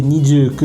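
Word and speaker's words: にじゅうく: Mais il ne faut surtout pas l'installer le 29 décembre parce que en japonais le 29 ça peut se prononcer nidieu que qui veut dire la double souffrance.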